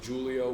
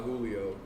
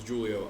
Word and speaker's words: Julio: yep about that Julio the name on paper is spelled the same but it's Julio with a hard J I do not go by Julio my name is Julio I'm the CFO Chief